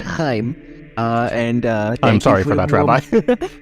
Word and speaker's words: Chaim: And we also have your Rabbi Shame Silverstein, with us here today. Did I pronounce that right? It's understandable. It's pronounced Chaim.